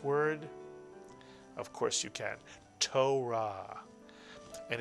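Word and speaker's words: תורה: of course you can Torah and Israelis tend to roll the r not quite like the French do but a little bit torahs Torah and the Torah is the Five Books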